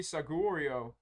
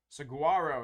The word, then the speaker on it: Saguaro: another uh altar trainer this one's gonna be sagorio Saguaro excuse me Saguaro there on this All-Star trainer